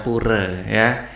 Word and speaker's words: pura: ibadah umat Hindu adalah tulisannya pura mereka bacanya pureh saya ikut aja ya pada gambar 3